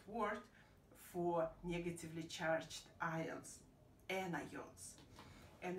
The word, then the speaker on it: anion: Similar way with anion, because the spelling is kind of close to onion, but by pronunciation is different.